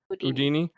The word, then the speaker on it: Udini: Udini. Thank you. It's like Houdini. It's like Houdini. Just no H.